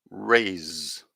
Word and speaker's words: rays: can see that so the s it's just like air coming through s race rays so you can if you try to say those those words just now in the first one you can just feel the air coming through your mouth and the second one you can feel the vibration in your throat and that's the difference between s and z race rays okay good let's have